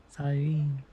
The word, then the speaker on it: Cyrene: Cyrene.